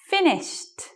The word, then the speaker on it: finished: Finished, dripped, laughed.